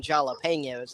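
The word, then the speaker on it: jalapeño: Nah, they're the ones that go around saying that they're eating jalapenos. I'm just like, the J is silent. Keep it that way.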